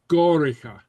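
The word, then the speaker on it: gòraiche: Gorach, foolish becomes goricha. Gorica. Goricha, okay? So you give it a little I sound there.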